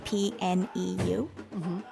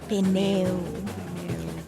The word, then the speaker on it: pneu: I think that in English the first vowel is usually, in a diphthong, is usually pronounced a little bit shorter, but in Portuguese it's both vowels are pronounced the same way, like pneu, the same amount of time for both.